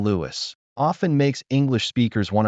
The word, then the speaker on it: Louis: Lewis. This part is pronounced Lewis. Think of the name Louie like the famous jazz musician Louis Armstrong. The S is completely silent.